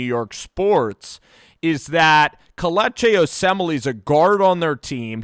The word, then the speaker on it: Osemele: I just have a hard time pronouncing it. Yeah, it's Osemele.